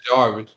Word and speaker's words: Jervis: yeah, Jervis.